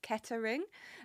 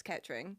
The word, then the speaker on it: Kettering: But what I said in my speech as well is it's very often mispronounced as Kettering. But actually, if you're from there, it's Kettering. So it's 2 syllables, not 3.